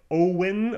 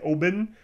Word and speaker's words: Owen: And therefore, in the city of Owen, actually in German we say Oben, the W-O-W-E-N is actually pronounced Oben, there's a castle Tech, and that's what that's named after.